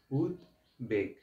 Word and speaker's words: উদ্বেগ: ওই বফলাটা উচ্চারিত হবে উদের সাথে ব ফলা থাকলে ব ফলা উচ্চারণ হবে সহজ ভাষায় আবার বলি